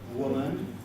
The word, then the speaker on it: woman: in san francisco well woman is a very difficult word for japanese learners of english who tend to pronounce it or something of this sort woman notice that i have got a vowel schwein the second symbol a woman not a syllable in san